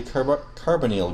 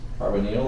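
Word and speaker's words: carbonyl: I don't know why this is called like a short I sound like hydroxal and this is like a carbonal like a long e.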